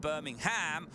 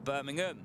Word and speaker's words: Birmingham: you Rosie Morgan saying which pronunciation am I going with Birmingham or Birmingham the UK way well I think I have to go with the latter Dave saying lungardt's overtake